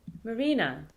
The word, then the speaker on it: Marina: In the second, stress is on the penultimate syllable, Marina.